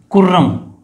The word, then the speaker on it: कुर्रम: कु से है कुर्रम, देखो एक्चुअल में कुर्रम है, हिंदी में खुर्रम लिखा हुआ है एनसीईआरटी के अंदर, वो थोड़ी मिस्टेक है, एक्चुअल में तो इसकी स्पेलिंग ये है कुर्रम, लेकिन कहीं कहीं पर खुर्रम भी लिखा हुआ आ जाता है, एक्चुअल में ये कुर्रम है, ठीक है।